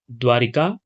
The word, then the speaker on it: द्वारका: यह है आपका सही वर्तनी वाले शब्द द्वारका, जो है ऑप्शन बी सही उत्तर है। क्योंकि हम बोलचाल की भाषा में द्वारिका, द्वारकाधीश, तो ये उच्चारण हो जाता है, जबकि इसका सही वर्तनी आपका द्वारका है।